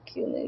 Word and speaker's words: Kumu: Uh, everything about the Kumu universe. I think the burger emoji is scarier. The burger is scary. It's got 197 reads already. Wow. Uh, what are kumus? Kumus, pronounced kumu, are a fictional species created by chaos.